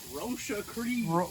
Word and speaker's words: Roche-A-Cri: Roche-A-Cri. Roche-A-Cri is the French pronunciation for this.